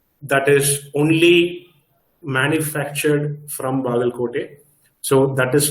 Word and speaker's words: Bagalkot: I wanted to identify what is famous in Bagalkot. Am I pronouncing it correct?